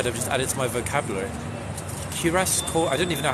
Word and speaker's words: cuirass: Sorry if it's cuirass, wait. Ah, I got it, guys. It's like with a Q. Cuirass. Yeah, cuirass it's called. Just Google is pronouncing it as cuirass.